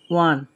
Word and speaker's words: one: dash eight ঠিক আছে এ ওয়ানের ও বা ওয়া উচ্চারণ এসেছে ওয়ান হয়েছে এজন্য এ হয়েছে কিন্তু আমাদের